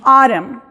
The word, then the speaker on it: autumn: En las palabras que terminan en la combinación MN o MB, la última letra en estas combinaciones es muda. Entonces, en la combinación MN, la N es muda, y en MB, la B es muda. Como por ejemplo tenemos autumn, autumn, lamb, dumb. ¿Se fijan? No se pronuncia ni la B ni la N.